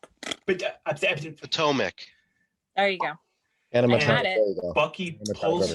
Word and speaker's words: Potomac: damn thing crashes and paul how do you say the river because they say it wrong in the four minute video we watched atomic potomac there you go bucky